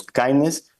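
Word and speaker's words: KINDNS: technical world uh so kindness means knowledge sharing and instantiation Norms from for DNS and naming security so this we pronounce kindness and it's basically that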